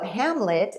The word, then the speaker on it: Hmlet: Kindred's very similar where we took out the vowels and people have a hard time pronouncing it so Hamlet actually just raised 40